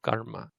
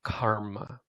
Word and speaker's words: karma: Which is why if you hear an Indian person say the word karma, it sounds like I just said it. Oh, that's very bad karma. It is not pronounced karma. So your first lesson, something you can share with others, is that when you say that word, it's not karma, it's karma, karma, karma, karma.